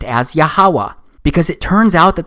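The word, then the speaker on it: יהוה: wh it's pronounced as yahawah because it turns out that the language was so simple back then that it vocalized each consonant with an a sound without specifically marking that sound between consonants so this YH wh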